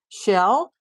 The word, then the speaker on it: Chelle: But some people pronounce Shell like Michelle. So is it like Michelle or is it like Shell?